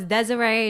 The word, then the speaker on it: Desire: Like, I mean, yeah, it's spelled desire though, which obviously Desiree, means like desire.